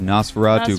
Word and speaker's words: NOS4A2: June 2nd on AMC now you know how to actually pronounce it I think people were having issues yeah you know as for a - it's called Nosferatu with a vampire ish